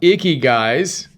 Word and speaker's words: Ikigai: This one's on Icky Guys. It's inspired by the happiness equation by Neil Pasricha. Icky Guys. That's how you pronounce Icky Guy.